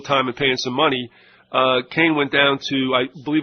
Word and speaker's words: Kahn: He pronounces it Kane. It's K-A-H-N.